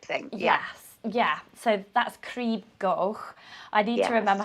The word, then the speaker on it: Crib Goch: I remember you saying crib goch, which you pronounce differently to me. Crib goch.